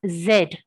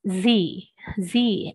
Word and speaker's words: Z: alphabet the last alphabet we pronounce it as zed z for zebra which is again incorrect as we learned last time it's z z as in zebra it's a z sound and it's not a